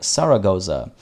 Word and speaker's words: Zaragoza: joke about zaragoza because we pronounce the z and s the same so zaragoza sounds pretty much like saragoza saragoza means sarah enjoys